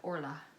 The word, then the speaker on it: Orla: But yeah, not Ola, but Orla. I'm assuming.